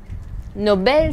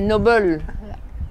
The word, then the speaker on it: Noble: Ah, mais non, c'est pas Nobel, c'est Noble. Tu vois? Oui, oui, Noble, c'est Noble qui Voilà. se prononce Nobel en anglais.